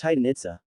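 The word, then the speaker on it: Itzá: on their final syllable other references prefer the maya orthography chichen itza pronounced itsa this form preserves the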